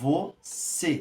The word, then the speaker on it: você: E qual que é a sílaba tônica? Você. Não é você. Então, a gente vê que o C é o tônico, porque é a sílaba mais forte.